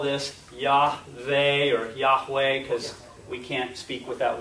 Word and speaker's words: Yahweh: say it right the the Divine name Yahweh Yahweh you may have seen Jehovah right is another way because why in German is J and they translated into from German so that's where just